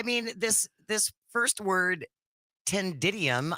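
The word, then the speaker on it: ctenidium: this this first word tendidium I think that's how it's pronounced it's spelled c t e n i d i u m meaning a structure consisting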